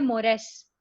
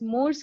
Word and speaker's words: mores: अब और एक है मोरेस, MORES, they are called as मोरेस, मोर्स की तरह लिखा जाता है लेकिन इट्स मोरेस।